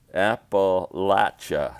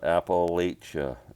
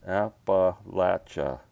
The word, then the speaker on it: Appalachia: and the another piece that sam gave me apple latcha that's the way it's pronounced not appalachia app latcha i'm trying to find a frame for that